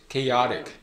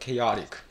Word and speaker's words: chaotic: 그리고 이거는 chaotic. 네. 그래서 이제 강세도 이제 뭔가 다르고 뭔가 발음하는 부분도 조금 이제 다르거든요. 다시 한번 읽어 chaotic, chaotic, chaos.